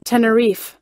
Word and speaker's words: Tenerife: fi tenor fight hey Siri how do you pronounce te and ER I II ah Tenerife this accident took place in the Canary Islands